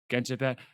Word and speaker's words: Genshin Impact: I keep mispronouncing this, but like Genshin Impact. Genshin Is that how you say Impact. it? Mhm. Genshin Impact.